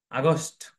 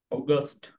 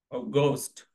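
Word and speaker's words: August: এরপর আছে আগস্ট, এর সঠিক উচ্চারণ হচ্ছে অগস্ট। অগস্ট।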